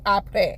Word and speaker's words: Apres: APRES.